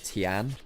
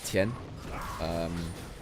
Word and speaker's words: Tian: For instance, it's not Tian, it's Tien.